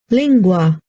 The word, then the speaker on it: lingua: I can see that I really went heavy on the AH of lingua where is this pronunciation up here lingua is like the whole thing the whole word has emphasis rather than just the end part so it might seem